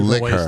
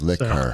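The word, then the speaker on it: Laika: You pronounce it Liquor, I believe. Liquor.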